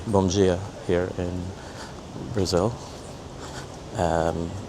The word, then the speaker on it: bom dia: It's spelled d i a where the d is pronounced as a g. So, it's bom dia.